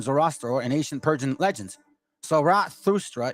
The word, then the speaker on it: Zarathustra: Zarathustra is the best approximate on how to pronounce his name.